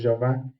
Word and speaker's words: Jeová: pra gente perceber que a pronúncia aí é Jehová em hebraico, Jeová em português, tá tudo certo, tem